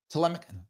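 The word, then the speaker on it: Ptolemaic: she was uh toic tmic tmic is how you say that the Greek family there tmic I think is that is that right I think it's tmic um she was Greek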